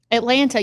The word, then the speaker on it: Atlanta: Atlanta. You pronounced the second T at the end. I only did that because you asked and I wanted to be proper, but I'd call it Atlanta.